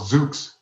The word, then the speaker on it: Zoox: Did I pronounce that correctly? Yeah, it's actually called Zoox. Zoox.